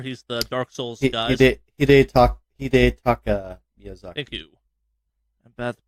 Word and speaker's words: Hidetaka Miyazaki: Critics' Choice Award, Red Dead Redemption 2, Lifetime Achievement, Hidekata Miyazaki from Software. He's the Dark Souls guys. Hidetaka Miyazaki. Thank you. I'm bad at pronunciations.